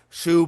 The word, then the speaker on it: Zhou: That's spelled Zhou in English. That's how the word is transliterated. And you can pronounce it different ways. Shu period, Zhu period. These are ways that I've heard this term pronounced by English speakers in academia at different points in time.